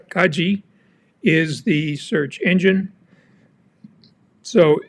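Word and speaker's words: Kagi: how do you pronounce Kaji well it's kaj G the G sounding like the G in gift and Kaji means key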